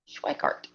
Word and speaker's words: Schweikart: Do pronounce the W. Okay. Schweikart.